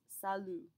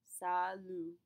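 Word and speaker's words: salut: word in French is Salo Salo note that we do not pronounce that final T we'll talk about this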